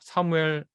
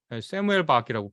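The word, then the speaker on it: Samuel: 다시 보게 한 그림인데요 사무엘 세무엘박이라고 발음해야 되겠죠 유태인이고 2차 세계대전 때 나치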